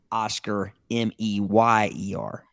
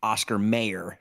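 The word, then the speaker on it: Oscar Mayer: m a ye R not Oscar M Yer so it's more like Oscar mayor like like John mayor's my baloney has a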